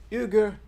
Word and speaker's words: Uyghur: for biden because they wanted to help their euger that's how it's pronounced directly brothers and sisters in china the